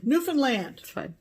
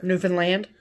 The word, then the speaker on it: Newfoundland: labrador and labrador yeah not not foreign newfoundland pami reed told me that's how you say it she should know she lives there newfoundland and and so does